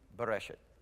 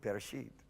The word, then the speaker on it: Bereshit: You've got some beginning, but I was, See, I used to pronounce Bereshit, Bereshet. It's wrong. It's close, but no cigar. It's Bereshit. So it was.